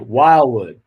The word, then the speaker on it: Wildwood: good job you can't you don't pronounce the d really it's like wildwood wow yeah okay i